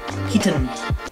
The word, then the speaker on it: Heaton: Heaton. You always pronounce the T's with a hard T.